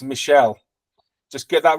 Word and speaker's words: Michelle: And it's pronounced Michelle.